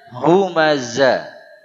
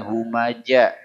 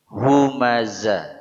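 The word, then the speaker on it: همزة: kulli tapi kulli kemudian humaza hurufnya Zai nah ini kembali kepada masalah kebiasaan orang-orang di sini yang mengganti huruf Zai kepada huruf Jim Jadi bukan humaza tapi humaja humaja salah besar kesalahan yang merubah makna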